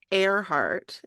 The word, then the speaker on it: Earhart: her last name is it's airart is how it's pronounced yeah and she loved